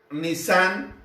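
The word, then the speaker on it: Nisan: el mes de abril nissan y así se pronuncia el mes de abril sale en ese mes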